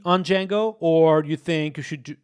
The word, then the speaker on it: Django: Why D is silent in Django? Uh, J Django. Oh, that's a good question. Django.